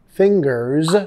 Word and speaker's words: fingers: Fingers, sonido de Z al final, fingers crossed.